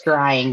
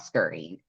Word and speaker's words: scrying: Hey, And we're it's scrying, not scurrying.